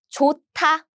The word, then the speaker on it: 좋다: And then when you pronounce it, there's 디귿 sound. So they are combined. How? 디귿 with 드 sound with a lot of air. 트. So the pronunciation is 좋다.